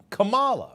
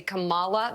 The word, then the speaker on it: Kamala: You'll notice they purposefully pronounce her name wrong. They say Kamala. They do it all the time. It is on purpose. So he's mispronouncing her name multiple times. That is something we've seen a lot of Republicans do who do know how to pronounce the vice president's name. Just think comma. Comma.